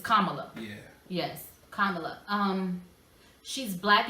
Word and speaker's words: Kamala: Kamala. That's the way to pronounce it. It's Kamala.